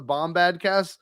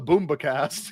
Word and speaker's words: Bombadcast: his dad calls the bombad cast the boomba cast that always makes me laugh he done it that's awesome the boomba cast they know enough of your podcast to say it wrong oh how's the boomba